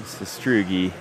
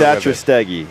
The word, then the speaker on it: Satrastegi: Corporal Martin Sestrugi. Sorry, I mispronounced. That's why I said just call him Stegosaurus. I thought I had the pronunciation dialed. He's like, don't even bother. Satrastegi. There we go.